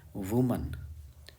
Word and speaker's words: women: यहाँ देखिए women लिखा है, ठीक है, इसका प्रोनाउंसिएशन होता है women। women वगैरह नहीं बोलेंगे कुछ, और WOMAN का प्रोनाउंसिएशन होता है वुमन, वुमन, और EN वाले का प्रोनाउंसिएशन है विमेन।